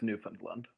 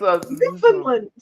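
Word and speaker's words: Newfoundland: Newland okay I think I think it's pronounced like kind of pushed together but I could supposed like kind of mum yeah you you have to say it quietly and quickly you have to go like oh what you name it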